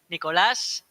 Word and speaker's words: Nicolas: go ahead uh okay it's a spanish name if you don't know is nicolas oh i'm not pronouncing